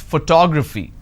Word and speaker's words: photography: the first syllable but when i look at this particular word i pronounce this as photography how do i pronounce photography and how many syllables do i have here four toe grab fee four syllables but in this case i stress on the second syllable that is what word